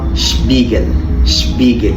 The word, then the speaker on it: Spiegel: ال SB بيتنطق في اللغة الألمانية Spä zum Beispiel Spiele يعني اللعب، وده Spiegel يعني المرآة، وده Sport يعني الرياضة.